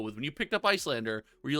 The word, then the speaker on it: Iyslander: got an icelander win is it icelander izeelander i think it's just icelander right like that's what it's meant i've heard people pronounce it icelander yeah yeah yeah i think that's what it's meant to be i who knows islander